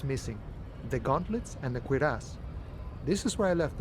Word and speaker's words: cuirass: I have never seen that, never heard that word said, so now I know it's pronounced cuirass, which I didn't know before.